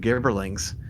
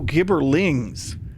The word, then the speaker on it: gibberlings: to home brew some garberlings it was very upsetting oh gibberlings not the the what i was mispronouncing for so long gibbering a gibbering mouther